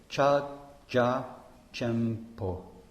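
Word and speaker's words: ཕྱག་རྒྱ་ཆེན་པོ: So in Tibetan, Mahamudra is Cha ja, chenpo, cha-ja chenpo, 4 syllables.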